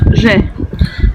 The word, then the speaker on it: Ж: Alors maintenant on va voir le je, qui se prononce Ж.